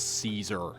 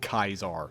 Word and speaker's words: Caesar: Blame Fallout New Vegas for the way I pronounce Caesar. It's Kaiser. Kaiser.